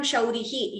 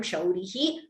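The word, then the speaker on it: शौरिः: If you pause, we chant the Visarga completely. Vahatyenam shaurihi kathamapi sahasrena shirasam. But if you choose not to pause there, then we chant it as Vahatyenam shaurih kathamapi sahasrena shirasam.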